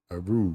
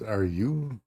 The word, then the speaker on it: Aru: Aru. Okay. Oh, are you? So it's are you? As in are you? Okay. Not Aru.